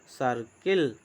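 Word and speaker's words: circle: फिर देखिए सी आई आर सी एल ई, जैसे सी आई आर सी एल ई, इसको बोलेंगे सर्किल, सी आई आर सी एल ई सर्किल।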